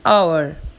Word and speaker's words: hour: An ant, an enemy, an ice cream, an orange, an umbrella, an hour. Notice the word hour as H is silent here, so the sound starts with a vowel sound.